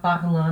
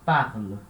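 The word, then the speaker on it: parlent: De novo, não confundir essa terminação, ent, a gente já viu esse som em algumas palavras, é an, mas não vai ficar parlant não, tá errado, é parle, tá? É uma exceção na hora de pronunciar. A gente não fala parlant, a gente fala parle.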